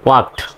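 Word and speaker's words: walked: এর উচ্চারণ সাইলেন্ট হয় এ এল কে থাকলেও এল এর উচ্চারণ সাইলেন্ট হয় তাহলে এখানে ওয়াকড না বলে ওয়াকড বলতে হবে ওয়াকড এই ইডি আছে ইডির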